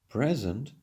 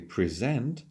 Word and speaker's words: present: For example, when we stress the first syllable, present, it's a noun or an adjective. But when we say present, here it's a verb.